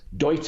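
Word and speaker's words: Deuter: Douta, it's a German mate.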